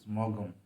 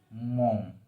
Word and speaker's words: Maugham: and his name is william sometimes many people pronounce as mogum but that is a wrong pronunciation the karna the correct pronunciation is mom so he was one of the most highly